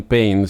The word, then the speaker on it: Payne: mencionar que es que si uno pronuncia el el nombre liam Pain si bien se escribe paine no lo que sería en español se se pronuncia muy muy parecido a Pain que es dolor no pain p a